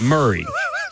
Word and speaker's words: Maury: No, apparently these fools pronounce it Murray.